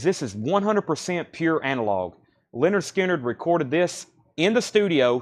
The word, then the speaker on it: Lynyrd Skynyrd: That's pronounced Lynyrd Skynyrd.